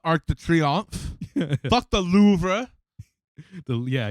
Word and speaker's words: Louvre: Fuck the Louvre. Yeah, you say it how it's spelled. Louvre. Louvre.